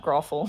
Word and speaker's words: Grothel: I am King Grothel the Third. King Grothel? I'll spell it out for you. Grothel? King Grothel. Is it like a brothel but with a G? It's like that, growful.